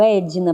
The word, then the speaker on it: Edna: que são escritos então Meu Nome é Edna o meu D é mudo então eu colocaria e d i n a para que seja Claro Edna para que não tenha